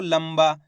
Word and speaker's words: लंबा: इसी प्रकार से यहाँ पे देखो लंबा, उसके अंदर बा मिलेगा आपको, ये रहा बा, ला के ऊपर अनुस्वार की मात्रा है तो बा ये रहा, तो इसको पढ़ेंगे लंबा, आधा माँ का उच्चारण निकालेंगे।